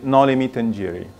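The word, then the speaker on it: noli me tangere: Actually, there are many readings for this, but many dictionary online say nolly me tangere, making it 1, 2, 3, 4, 5, 6 syllables. Nolly me tangere. Although I love the nolly me tangere, like the Italian way of saying it.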